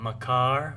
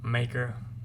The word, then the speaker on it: Makar: beat the Magma Wyrm Makar, or Maker, however you want to pronounce it.